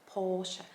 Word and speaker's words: Porsche: brand name correctly and the correct way to say it is porsche porsche so the r sound is actually silent so you kind of have that o sound a little longer porsche now number nine